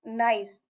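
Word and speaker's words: gneiss: Janice एक pronounced नाइस इज the highest grade of regional metamorphic rock.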